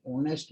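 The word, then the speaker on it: honest: कई शब्द हैं जिनमें एच साइलेंट होता है, आगे वाला ही बोला जा रहा है, ओ एन ई एस टी ही बोला जा रहा है, एच साइलेंट, लेकिन लिखा जाता है, पर कुछ लिखे जाने से नहीं, हमें यहाँ पर इसका उच्चारण ऑनेस्ट हो रहा है, इसलिए आई ही इज एन ऑनेस्ट मैन।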